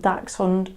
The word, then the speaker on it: dachshund: to get one so they originated in germany hence the um the spelling and the pronunciation so dax fund literally translates it translates